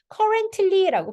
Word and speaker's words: currently: 다음에 이거 엔트리틀리 요거 발음은요 끈다는 단어가 t를 발음하지 않으셔도 돼요 그래서 그냥 잠깐 멈췄다가 ly를 연결하시면 돼요 그래서 currently cary 약간 멈춰요 너무